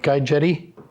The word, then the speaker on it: Guy Jette: Am I pronouncing that right? Guy Jette?